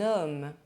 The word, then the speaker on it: homme: The letter H is always silent in French. There is no aspiration. Un homme, du thé, de l'ânette.